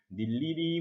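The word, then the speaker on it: 늴리리: 다만 세 번째 것은 자음 더하기 의는 의를 이로 발음한다, 의를 이로 발음한다 라고 하는 것.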